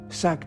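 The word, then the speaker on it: saag: The dish is a spinach chicken, pronounced as sack chicken or chicken sack.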